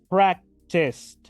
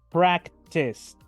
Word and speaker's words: practiced: Practiced. Practiced. Fíjense que casi no pronuncio la última E. De hecho, se escucha, esa E es muda y voy a escuchar la letra D directamente. Escuchen de nuevo. Practiced.